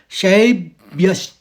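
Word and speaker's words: शैब्यश्च: तो हम इसको पढ़ेंगे शब एकदम उसे एक ही स्वर में निकालेंगे। पहले शब फिर व्यस च दूसरे आघात के लिए श आ जाएगा और च पूरा पूरा तो इस शब्द को पढ़ा जाएगा शब्यश और आखिरी शब्द चौथे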